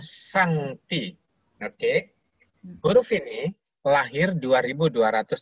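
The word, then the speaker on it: 上帝: Ini bacanya Sangti.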